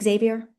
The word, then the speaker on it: Xavier: say, you know, by the way, am I pronouncing right? Is it Xavier?